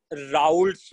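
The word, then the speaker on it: Raoult: So next thing is let's say राउल्ट्स लॉ। भाई इसका spelling मैंने एकदम सही लिखा है, ये R A O U L T है ना, राउल्ट्स लॉ।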